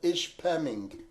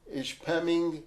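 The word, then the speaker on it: Ishpeming: In fact, it's not even in Marquette, but it's in a nearby town called Ish Pemming. That's spelled Ish P E M I N G.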